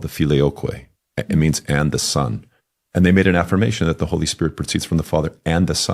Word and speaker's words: Filioque: Filioque, it's 4 syllables.